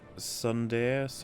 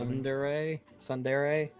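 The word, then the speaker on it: tsundere: Example, being Sundere, that's how it's pronounced. Sundere.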